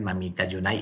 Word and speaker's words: Mamita Yunai: el mamita yunai y porque se llama mamita yunai precisamente para hacer alusión layún ayer a la compañía bananera y una compra pero era en la forma como los trabajadores pronuncian el nombre de la de la compañía la united sean los trabajadores entonces